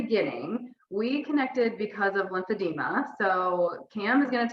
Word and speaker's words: lymphedema: Cam's like, Lymphedema. Yeah. lymphedema. People always add the extra syllable to it. Like there's an I, like demia. I'm like, no, it's just Yeah. lymphedema.